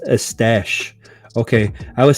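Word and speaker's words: Eustache: a dummy says pronounce estash okay i was saying you stache like you stacy all right or eustace yeah i was pronouncing it as it was spelled thank you for that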